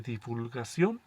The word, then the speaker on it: divulgación: ¿Qué es una revista de divulgación? Divulgación con acento en la O y con V.